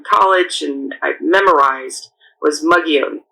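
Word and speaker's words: Mogollon: It looks like McGallan, but I'm um you'll hear a lot of pronunci pronunciations of it, but um the one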